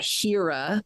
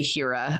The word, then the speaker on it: Hera: research I found that Hera is proper and it's the same root for the word hero which we still pronounce that way so that's an easy